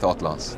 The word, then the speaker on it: Hautlence: Yes, so it's not an actual word, so everybody can kind of pronounce it as they want. Right. It has that French twist to it, so we go with Hautlence.